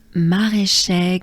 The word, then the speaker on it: Maraîcher: Maraîcher goes like this. Ma, ré. Remember, it's e, not e. Ma, ré. So there's the French R. Ré. Inhale and exhale with your tongue put, not moving, but down below in your mouth. Ré. Ma, ré, che. So many French sounds. Typical. Maraîcher. Encore. Maraîcher.